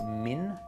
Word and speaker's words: MiN: the brand is called Min New York I think it is pronounced Min even though it's capital M Small I capital N uh it's a very